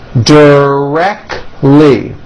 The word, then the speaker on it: directly: Directly. 3 syllables. And most Americans drop the T. Directly.